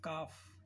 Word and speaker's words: calf: CALF, काफ, L इसमें silent, FOLA, Fock, Fock, right.